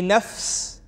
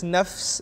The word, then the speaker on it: nafs: body, we are a mind, we are a nafs, we are a ruh, which is a soul, and we are a heart.